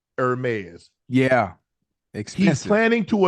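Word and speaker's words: Hermès: That's how it's pronounced. Hermes.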